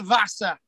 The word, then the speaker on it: Vasa: We've all heard of the Vasa. You can actually pronounce it with a W, but it's the Vasa, V-A-S-A.